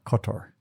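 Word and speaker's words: Kotor: compared to what it is now and but cutter as we talked about earlier is definitely on on the list um how do you spell that k o t o r cotor um and uh St Petersburg is a classic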